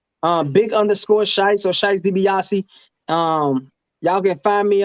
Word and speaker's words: Shys Debiocci: you can find my music just type in scheisse dibiase is scheisse dibiase like the like the wrestler t d b